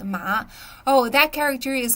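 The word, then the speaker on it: 马: but both of the these two characters are are pronounced as ma which means horse in China okay my friend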